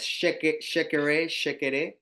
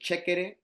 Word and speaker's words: chekere: Now we might know it as shekere. In our Spanish, we pronounce it chekere.